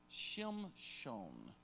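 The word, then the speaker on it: שִׁמְשׁוֹן: The Greek pronunciation is Shimshon, which is sunlight.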